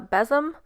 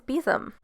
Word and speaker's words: besom: you guys call it a beezum i always used to call it a bezem but i guess the proper name is beezum do you guys ever